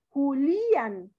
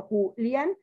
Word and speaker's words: Julián: Si la ponemos en Es la I, rompemos diptongo y diría Julián. Y no decimos Julián, sino Julián. La sílaba, el acento lo lleva en la A.